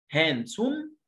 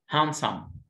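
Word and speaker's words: handsome: هاندسوم غلط، هاندسوم غلط، ما اسمها ايه؟ هانسام هانسام الدي هنا سايلنت.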